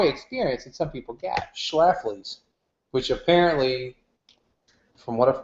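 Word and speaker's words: Schlafly: kind of Joy experience that some people get schlaf which apparently from what I've heard is how you're supposed to pronounce it is that's an old timey beer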